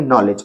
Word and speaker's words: नॉलेज: एन के बाद वल तो यहां पर भी के का साउंड नहीं आएगा साउंड किसका आएगा एन का आएगा तो क्या पढ़ेंगे नॉलेज और इसको नो तो